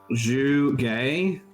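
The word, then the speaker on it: Zhuge: So the ZH is J. It's pronounced. Shuge. Yep. ZH is pronounced as a J. Zhu Gay. Mm-hmm. Zhu. Just like a long J sound.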